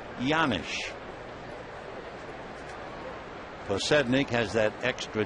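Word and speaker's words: Janish: Scott pedik can explain why the J sounds like a why it's a Czechoslovakian name the one-1 pitch fouled away one and two the name is spelled j a n i h but it comes out yanish cednik has that extra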